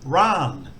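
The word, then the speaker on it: ร้าน: n and it's got a higher tone so ran long ah vowel and that means shop or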